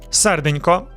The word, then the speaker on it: Серденько: Серденько, it means little heart, soft N plus K combination.